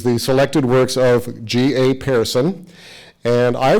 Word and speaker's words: Pehrson: And I grew up knowing his name as Pehrson, but it's actually Pehrson. As you'll find out, he is from Sweden, came over to the U.S. And if you really want to say it properly in Sweden, you'd say Pehrson. I'm going to go with Pehrson, okay?